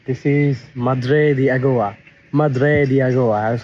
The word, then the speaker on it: Madre de Agua: Madre de Agua. I'm pronouncing just like the native ones.